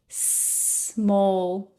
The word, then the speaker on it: small: English I learned that we do not say es small we say small very small okay so careful with that if you mispronounce these words starting with the letter S.